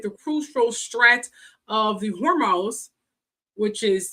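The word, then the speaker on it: Hormuz: Now, these facilities along with the crucial strat of the hormones, which is spelled H O H O R M U Z. So, it's hormones.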